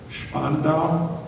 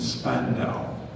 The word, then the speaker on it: Spandau: This has 2 pronunciations. I'll give you both. Spandau and Spandau.